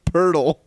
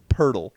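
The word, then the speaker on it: Poeltl: Okay, so his last name is Pertl, right? Pertl. Pertl. Yes. Okay, you ready for this? No? P-O-E-L-T-L.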